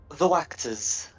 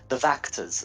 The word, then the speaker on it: Wachters: The Wachters are still alive. Actually, I think, sorry, the Vactors are still alive, and it's spelled with a W.